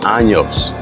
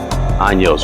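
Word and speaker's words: Años: guys speaking of dope I've heard a lot of people pronounce this five an learn it's it's anos anos which means fifth anniversary it's it's the fifth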